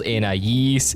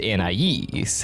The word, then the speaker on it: Anais: THIS WAS always really confusing because these two pronunciations are very different. So it never made sense why they'd use both of them. Well, we'd actually get our answer 5 years later in the episode The Choices, where we see Anna Ye changing the I and A in her name, which is probably where the difference in pronunciation comes from.